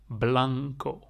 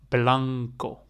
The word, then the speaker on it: blanco: pronounce it like this Blanco Blanco yes so if you um pronounce it make sure you make the blah make it a little bit longer than the O the O is really short like Blanco yes so